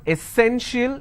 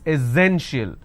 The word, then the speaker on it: essential: you see this word it's not essential it's essential so instead of sur sound we have a z sound here it is essential